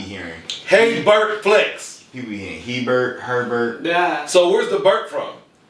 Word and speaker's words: HeyBert: Yeah, it is HeyBert.